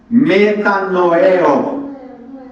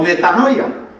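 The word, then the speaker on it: μετανοέω: Meta noeo con una fuerza en la e. Noeo o metanoia. A esa suena más fácil,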